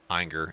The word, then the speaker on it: Ayinger: So we are pitting fifth season against Ayinger.